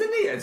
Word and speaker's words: Aeneid: the Greek and Roman canon, we're doing the Aeneid. And how is it spelled, Dan? With an A. Yeah, but spell it out.